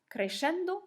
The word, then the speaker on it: crescendo: Alors, on prononce crescendo avec le son ch au milieu, mais ça ne s'écrit pas comme ça, puisque le ch, on dit ch en français, mais en italien, si vous voyez ch, ça fait que.